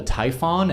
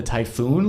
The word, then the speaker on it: Typhon: this same thing Cappy are you sure it's actually called the Typhon and not the typhoon launcher fair question I've been known to mispronounce a name or two in my day and admittedly I've gotten confused before in the past and called it typhoon launchers in previous episodes but this launcher isn't named after a strange word